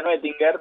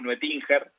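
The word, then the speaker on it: Noetinger: Muy bien pronunciado, se pronuncia Nuetinger, pero nosotros en el pueblo decimos Nuetinger.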